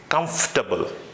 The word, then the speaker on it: comfortable: not comfortable you may be thinking like that that spelling is com4 r ta ble so it would be comfortable but remember there shouldn't be no sound of table over there so the correct pronunciation for this word is comfortable again comfortable I'm feeling